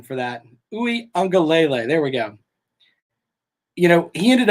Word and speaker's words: Uiagalelei: Clemson's quarterback, Uiagalelei, and I'm working on my pronunciation for that. Uiagalelei, there we go.